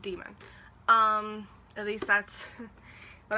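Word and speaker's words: daimon: it's it it's pronounced demon I know it sort of looks like Damon but it's pronounced demon um at least that's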